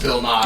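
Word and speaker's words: Nighy: It's pronounced Bill Nye. Yeah, it's Nigh.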